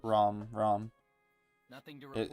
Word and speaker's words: Rom: In the actual pronunciation, you call it Rom.